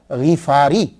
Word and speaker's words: غفاری: یہ اصل میں کیا ہے کہ یہ غفار ہے، غین کے نیچے زیر ہے، فا کے اوپر سمپل زبر ہے، تو غفاری. تو صحیح تلفظ یہ ہوگا ابو ذر غفاری.